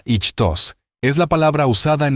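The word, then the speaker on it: ΙΧΘΥΣ: la palabra griega ichus yota cheta yilon Sigma pronunciada ichos es la palabra usada en el Nuevo Testamento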